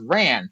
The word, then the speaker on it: wren: And she's like, okay, so it's a wren, but part of the thing is, like lower class levels in Ireland, they say things different. So oftentimes it's pronounced ran, and she wasn't giving them a penny to bury the rat.